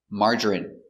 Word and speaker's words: margarine: So we're going to practice the pronunciation of the sound in for ine. Example, medicine, margarine, intestine, genuine, famine, and jasmine.